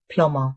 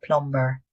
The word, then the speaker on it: plumber: The b is silent. It's pronounced plumber, not plumber.